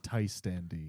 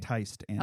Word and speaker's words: Tiste Andii: Just pronunciations going forward. Oh, yes. Tiste Andii. Tiste Andii.